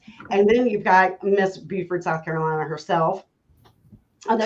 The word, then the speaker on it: Beaufort: And then you've got Miss Beaufort, South Carolina herself. I know, is it Beaufort or Beaufort? Did I say it wrong? Beaufort, no, you got it.